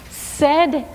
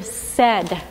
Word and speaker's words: said: look like like this we said is how we pronounce this even though it's AI when we hear the word we hear said right said but it's